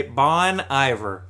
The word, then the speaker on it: Bon Iver: this self-titled album by bon iver okay and do you see how i spell it at the top b-a-w-n space e-y-e space v you are bon iver